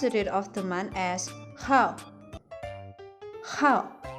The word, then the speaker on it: 号: 日 Even though it's written as 日 we pronounce it of the month as how.